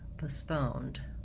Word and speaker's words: postponed: Then when it comes to the British English, they have also second syllable stress, but in British English, we have schwa in the first syllable, and then my second syllable stress. So it sounds like postponed, postponed, where we have in American English postponed, postponed, in British English postponed.